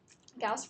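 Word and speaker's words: Gauss: so Carl friedr gaus gaus rhymes with mouse it's not ghost so gaus uh was a is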